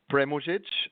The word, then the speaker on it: Premuzic: The pronunciation is Premuzic, and it means it's short for Prvi mužić, which is the first husband.